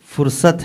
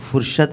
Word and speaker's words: فرصت: رہے ہیں آپ کے۔ فرصت ہے، وہ فرشت نہیں ہے، شین سے آ رہا آپ کا۔ فرصت ہے،